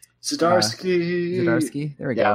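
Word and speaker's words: Zdziarski: Jonathan, oh gosh, I don't know how to pronounce his last name. Zdarsky.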